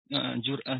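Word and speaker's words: جرأة: Jur'ah dibacanya jur'ah dari kata fi'il madhi jaru'ah ya jaru'u berarti.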